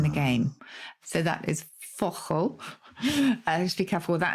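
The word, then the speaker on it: fauchle: pronunciation for this, but it's spelled F-A-U-C-H-L-E. So Fauchel or Fauchel. F-A-U-C-H-L-E. Fauchel.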